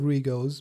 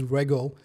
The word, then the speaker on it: Rego: So all my life till today, I've always pronounced it as Rego. So I'm glad you were able to correct that as Rego.